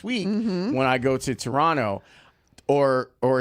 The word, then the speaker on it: Toronto: when I go to Toronto or or as Stacy Dales would say Toronto. Yes. Um you can't really pronounce the T.